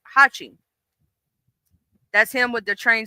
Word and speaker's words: Hachi: formed a shape of a character which means eight and is pronounced Hachi.